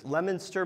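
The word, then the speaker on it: Leominster: who is in Massachusetts lemonster Massachusetts it's spelled Leo Minster but if you're from Massachusetts it's l lemonster and if you have advanced New England speech this order it's lster so uh I wouldn't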